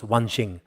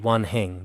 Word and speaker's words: 万行: But some also pronounce Wanxing.